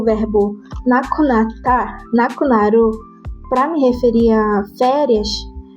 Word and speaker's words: 亡くなる: Ele tem a mesma pronúncia, nakunaru, nakunaru, com o mesmo intuito,